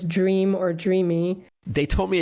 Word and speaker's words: Dreame: So I didn't know if that e was silent or not and they said, "No, it's pronounced Dreamy like as if it was a y."